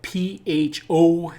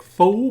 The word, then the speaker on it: pho: And that's pho spelled P-H-O. Looks like pho, but it's actually pronounced pho.